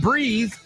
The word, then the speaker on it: breathe: The verb tiene una E al final y se pronuncia breathe.